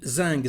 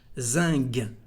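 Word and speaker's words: zinc: And zing. Zing is special actually because the letter C at the end is said like a G in French. Zing, zing.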